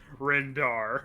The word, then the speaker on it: Rendar: Yeah, no, his name is Chieftain Rendar, not Shifted.